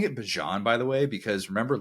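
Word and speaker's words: Bijan: with ban and nii and I'm saying it Bon by the way because remember last year he like came out and said actually his name is pronounced Bon not bejon so if you feel like I'm pronouncing it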